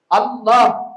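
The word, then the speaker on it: الله: பிரச்சனை சதக்கத்துல்லா அப்பா சொன்னாங்க இதுல ரெண்டு லாம் வருது அதனால இது வந்து இந்த ரெண்டு லாம் வர்றதுனால லாம் மாதிரியும் உச்சரிக்க கூடாது லாது மாதிரியும் உச்சரிக்க கூடாது ரெண்டுக்கும் நடுநிலையாகத்தான் உச்சரிக்க வேண்டும் என்று பிரச்சனை சண்டை வாதம் ஒரு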